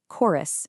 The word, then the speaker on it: chorus: Take the word chorus and the word church. They both begin with the exact same letters, c h, but in chorus, that ch acts as a hard c sound.